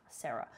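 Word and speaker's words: Sera: sable luma and a sarah luma which is spelled s-e-r-a sarah so first the sable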